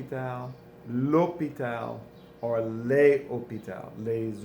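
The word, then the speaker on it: l'hôpital: with the H but often these words with the H we don't pronounce it it's it's silent AIT's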